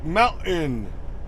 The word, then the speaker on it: mountain: Or they'll say mountain. Mountain. M-O-U-N-T-A-I-N. Mountain. Which, you know, again, really shouldn't be spelled that way. T-I-N. That should be mountain, right? But pronounce the T's.